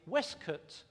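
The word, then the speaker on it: waistcoat: the top of that I'm wearing a westcat which is the way we would pronounce waste coat in those particular times on my feet I'm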